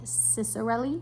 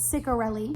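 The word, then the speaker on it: Ciccarelli: I just read a scene and I'm like, you know, you know, also I was definitely saying her name wrong. It's Kristen Cichorelli. I was saying Ciceroelli. It's No, it's Cicorelli.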